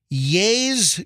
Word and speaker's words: Ye: Adidas said this morning, Ye's Y-E, because now he wants to be known as Ye, as in the end of Kanye.